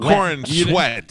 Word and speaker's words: Cornsweet: Corn sweat.